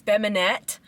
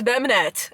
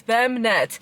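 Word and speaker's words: Bemnet: Okay, my name I used to tell people my name is Bemanette. No, my name is Bminette. Okay, you're going to feel every single syllable. I'm not going to make it easy for you. It's BNET. Is it Bonet? Is that French? No, it's Ethiopian.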